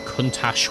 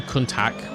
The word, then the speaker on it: Countach: You rhyme Countach with a bash. I've never known the correct way to say it. I always thought it was a Countach with like a hard, almost like, well, like a soft K sound.